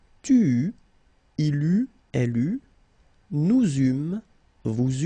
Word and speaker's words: eut: Okay, so j'eus, final S not pronounced, tu eus, final S not pronounced, il eut, final T not pronounced, elle eut.